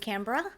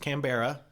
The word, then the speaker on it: Canberra: we went down to Canberra yes it's not pronounced kambera no though it was